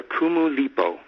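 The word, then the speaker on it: Kumulipo: led me back to a story called the kumu lipo okay that's spelled k-u-m-u-l-i-p-o and what's funny is that in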